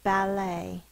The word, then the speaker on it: ballet: french origin french origin it's ballet sounded out but the line comes first and then the bubble ah a e t says the a long a sound because it comes from french and that's how they do it ballet now this needs to